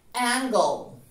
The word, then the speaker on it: angle: Esta A inicial suena muy similar a una E, A, A, y hacemos acá el mismo truco que acabamos de hacer con Google. Eliminamos la E en la pronunciación y ponemos O en medio de G y L. Angle, angle.